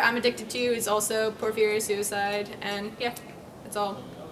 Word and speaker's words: Porphyria: Like poor, like you have no money. Fear, like and like again. And, so yeah, it's good phonetically. And then Tumblr, I'm addicted to, is also Porphyria Suicide, and yeah, that's all.